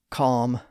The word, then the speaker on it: calm: with a lm like calm, palm, and bomb. Now some people do pronounce those words with a slight L sound today, but that's mainly due to the influence of spelling.